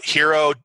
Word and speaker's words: HXRO: they could check out hero or potentially you know sign up to your blog and stuff like that yeah you can you can uh hero h it's hxro we pronounce it hero dot io um we're